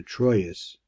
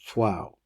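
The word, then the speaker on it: Troyes: had a French friend who this is we pronounce a troas this is where Rashi came from and he he said the proper pronunciation is twow okay that's number eight so here here we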